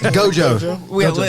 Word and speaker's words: Gojo: Gojo.